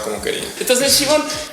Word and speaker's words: Siobhan: No, el nombre se pronuncia Siobhan y lo escogí por el apellido, Ajá. porque es un nombre irlandés, pero de raíz celta.